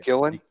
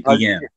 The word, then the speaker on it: Guillen: But I noticed you pronounced the name Ozzie. I think you called him Ozzie. Ozzie Gillen? Gillen. Yeah. It's Ozzie Guillen. Ozzie Guillen.